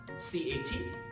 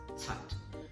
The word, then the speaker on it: cat: C-A-T, consonant C, C-A-T, cat. It's not cat. Alright, don't pronounce it as cat. So it should be pronounced as tat.